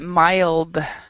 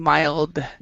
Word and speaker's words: mild: cells he says okay so remember that mild we actually pronounce the d sound mild mild yeah mild okay are there any words